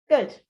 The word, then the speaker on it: good: Good. Now, notice I have been saying good and not good. It's not good. It's oh, good, good, good.